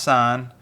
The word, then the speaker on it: sin: en still pronounced tangent sine abbreviate SI n still pronounced sine and cosine abbreviated cos